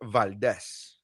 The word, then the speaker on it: Valdes: I am Nery Saenz, and with me, as always, is Valdes. What's up? Yeah, thank you for pronouncing it correctly. that's right, Uh, Valdes.